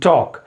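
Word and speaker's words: talk: It sometimes L gets silent. अब एल कहां कहां साइलेंट होता है आपको ये याद रखना है, ये आपको मालूम होगा। सो it's becomes calf, half, haves, could, should, would, Sam एंड टॉक।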